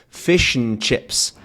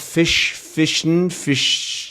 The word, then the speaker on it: fish and chips: But what we have here is a whole syllable, right? It's a whole separate piece, but there's no vowel sound. Instead, the N is functioning as the root, the core of that syllable.